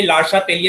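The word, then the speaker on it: Le Chatelier: देखो बेटा, जो ली चैटलियर्स प्रिंसिपल है, एक्चुअली हम लोग यहाँ पर डायरेक्ट जो लिखा वो प्रोनाउंस कर दे रहे हैं। एक्चुअली ये लार्शा तेलिए इसको बोलते हैं, प्रोनाउंसिएशन इसका लार्शा तेलिए।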